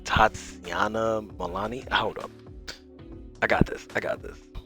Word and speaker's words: Tatiana Maslany: I think it's like Tatiana Malani. Hold up, I got this. All right, I'm gonna try to say this the right way. All right. Tatiana Maslany.